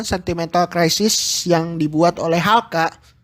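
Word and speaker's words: HALCA: Tentu semua orang tahu Sentimental Crisis atau bahasa Inggris normalnya Sentimental Crisis yang dibuat oleh Halka. Bacanya sih Haruka-san ya. Tapi ya kita pakai normal saja karena kita orang Indonesia.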